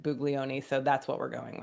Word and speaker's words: Buglioni: Uh, but we listened to the way they announced at the draft and they said Bugleion.